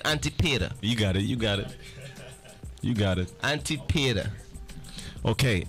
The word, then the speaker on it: Antipater: Antipater.